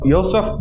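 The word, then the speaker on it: József: யோசப் Parsi and Maria Parsi இவங்க 2 பேருமே வந்து மேரிடு. யோசப்னு தான் அந்த நேமை வந்து ப்ரொனவுன்ஸ் பண்ணுவாங்க.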